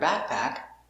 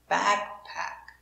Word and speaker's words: backpack: action action very good the word backpack you have two short a's but the stress is on the first syllable backpack so this is a complete a back pack pack is not stressed so it's more closed same sound a little